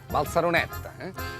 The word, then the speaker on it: Barceloneta: Bé, ells ho pronuncien Balsaroneta.